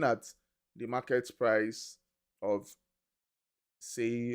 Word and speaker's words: Sei: the market price of say or sei some people call me I just call it say say blockchain or say depending on the way you pronounce it right it's 56 on